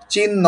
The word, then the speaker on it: চিহ্ন: চিহ্ন নয়, চিহ্ন। একটা এস এর উচ্চারণ থাকবে। হ্যাঁ, হ এর একটা বাতাস থাকবে।